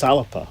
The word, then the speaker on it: Alba: but how can you really differentiate yourself it's alipa no i don't believe it's what aleppo it's pronounced it's garlic for scotland it's scott's galaxy